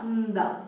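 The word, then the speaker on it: ന്ദ: Nda. Pronounce it as nda.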